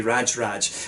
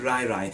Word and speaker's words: RajRaj: i'm pronouncing that right this pronunciation is going to cause me trouble in this video because you know raj in scotland we say raj and that means you know a crazy person or someone that's very angry so i want to call this brewery raj raj but i think it's it's right right if we use the swedish pronunciation so yeah ristonga rairai